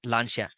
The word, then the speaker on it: Lancia: stagnated so the car you are seeing is Lancia Lambda so it's pronounced at launcher so it was a car by Italy Italian